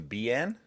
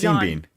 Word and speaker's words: Bean: I I think you mispronounced his name though, Tony. Sean Ben. No, it's Bean. Bean.